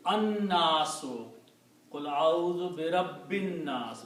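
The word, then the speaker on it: النَّاسُ: So when you put al, two dhammas are pronounced as one, so it becomes al nasu. But again, it will be, because of the noon, la will not be pronounced, it will be an-nasu.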